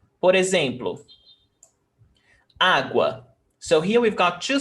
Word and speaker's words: água: Which one is stronger, U or A? A. We don't say agua, agua. We don't pronounce like that. We pronounce água.